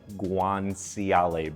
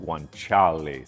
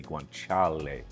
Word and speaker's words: guanciale: If you read it, it looks like guanciale, but it's pronounced guanciale. Say it with me, guanciale.